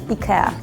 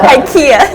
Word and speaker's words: IKEA: uh in the UK we say Ikea in Poland we say Ika in France we say Ika pretty similar yeah except the British one Ikea why do we do everything wrong yeah like we pronounce e very like e violet British was like I Ika IIA yeah in Sweden the K has two different sounds oh so this one is very like Ika it's very like harsh